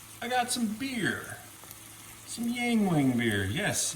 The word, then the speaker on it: Yuengling: Some Yuengling beer. Yes, Yuengling. I was told that's the proper pronunciation for it.